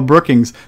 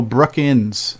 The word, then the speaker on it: Brookins: mispronunciation by the way my last name does not have the letter G ouch Neil Brookins Neil Brookins there you